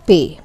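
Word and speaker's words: پے: As you can see, there are 3 dots under Pe, and the name is Pe, like I got some pay. I got this month's pay, like that. Pay.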